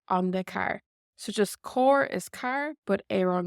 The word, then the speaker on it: ar an gcarr: So for example, we would have core, but we would say air on gore, and we'd put in our Uru, air on gore, on the car. So just core is car, but air on gore, on the car.